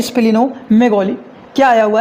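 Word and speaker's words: splenomegaly: जो पहला आया हुआ है इनका वो है स्पिनो मैगोली क्या आया हुआ है हम लोग बात कर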